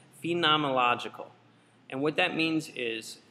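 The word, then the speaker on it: phenomenological: that's the phenomological perspective and I always pronounce this wrong it's phenomological and what that means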